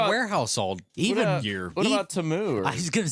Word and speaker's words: Temu: Which I thought it was Temu, and so did most of the country. But no, the commercial at the Super Bowl pronounced it like Temu or something like that. Maybe they were wrong. And we're all like, that was like the number one trend on X was like, it's not Temu or whatever.